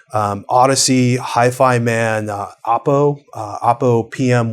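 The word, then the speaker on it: Audeze: Odyssey, which looks like it's spelled Audis, but Odyssey, Hi-Fi Man, Oppo PM 1, 2, and 3 have come out recently.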